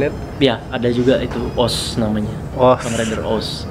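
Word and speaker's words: OOO: Ya, ada juga itu OS namanya. OS. Kamen Rider OS. O, tapi bacanya OS.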